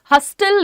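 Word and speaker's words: hustle: हसल लिखा है। पर हम बोल कैसे रहे हैं? हसल। हसल यहां पे टी साइलेंट है।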